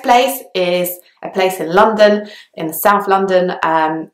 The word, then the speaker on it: London: pronounce it very differently I used to really enunciate the O's and kind of really enunciate the syllables but actually most people just say London which almost sounds like there's an A instead of the O but that's just how people say it so I hope you